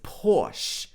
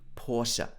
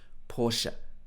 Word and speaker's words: Porsche: of people pronounce this porsche in the uk so you will hear a lot of people saying porsche but i believe the correct pronunciation should be porsche with two parts porsche okay so do you